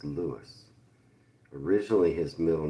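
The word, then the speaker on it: Louis: You'll see it spelled Robert Louie Stevenson, but it was pronounced in his day and still today it's pronounced Lewis.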